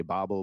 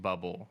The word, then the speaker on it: Böbl: this up I I'm pretty sure it is pronounced bubble I think that the the o with the umlot is uh it's similar to the sound of the E and the word her like the sound so yeah it's bubble in German but yeah I think